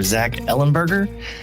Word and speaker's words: Zach Ellenberger: So, today in the virtual studio, I'm joined by author Zack Ellenburgger.